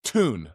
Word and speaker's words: Thun: It's Thun. The H is silent.